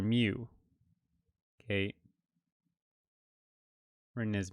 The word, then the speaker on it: mu: And it has the pronunciation of it as mu, M-E-W, but it's actually written as mu in for the Greek letter.